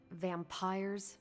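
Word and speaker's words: vampyre: said they were vampires vampires with a Y pronounced exactly the same as vampires I suppose that was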